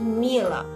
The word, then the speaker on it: Miele: basics of this dishwasher it pronounced Mila well Mila is a